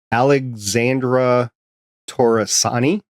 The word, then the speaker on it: Alexandra Torresani: Alexandra Torresani, I believe is how you say her name. A bit Italian.